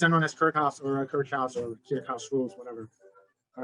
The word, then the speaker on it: Kirchhoff: course as a freshman, his name used to be Kirchhoff. And then over the years, I noticed that, hey, wait a minute, this guy is German. And obviously the pronunciation is not the same as our American pronunciation. And then I tentatively switched to Kirchhoff. And evidently the way they say it's Kirchhoff, they call it Kirchhoff.